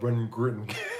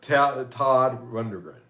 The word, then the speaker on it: Todd Rundgren: I can never pronounce Run Gritton. Like Jackie from that 70s, Tom Runderman. No, Todd Rundgren.